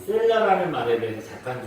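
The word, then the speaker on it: סֶלָה: 그래서 우리가 뭐 셀라라고 표현했지만 사실 음을 정확하게 잘라서 표현해보면 셀라하, 셀라하, 그렇게 발음을 할 수 있는 그런 단어입니다.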